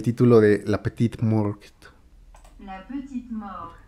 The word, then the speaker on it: La Petite Mort: La petite mort. La Petite Mort, sin la T.